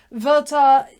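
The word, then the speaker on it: Werther: which translation you read Gerta verta Gerta rhymes with verta that's how you work out how to say the both of them um verta dies a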